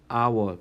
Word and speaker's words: hour: 시간마다, 시간당, by 뭐뭐당 할 때 by the hour, by the hour라고 합니다. 발음 자체가 모음 발음이 나면은, 자, H가 이거는 모음은 아니겠죠. 스펠링은 모음은 아니겠지만은 H가 묵음으로써 에, 이, 우, hour라고 소리가 나죠.